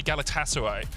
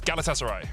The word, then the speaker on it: Galatasaray: need to say fast i just had a couple of tweets saying don't say galatasaray so it's galatasaray yeah we'll try if